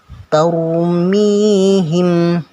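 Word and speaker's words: ترميهم: harus tebal tahu mihin taumi him bibir agak maju taumi him bukan tarmihim tarmihim nah bukan seperti itu tapi tahu bumi him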